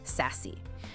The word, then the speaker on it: SASE: Secure Access Service Edge, pronounced SASE.